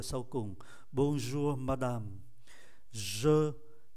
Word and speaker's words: bonjour: Bonjour, chúng ta để ý phải phát âm nhẹ nhẹ, câm R ở cuối. Bonjour, madame. Hoàn toàn không thấy âm tiết, ký tự ơ ở sau cùng. Bonjour, madame.